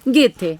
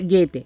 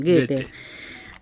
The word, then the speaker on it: Goethe: Goethe, o Goethe, como le decimos, pero se pronuncia Goethe, es alemán, Goethe.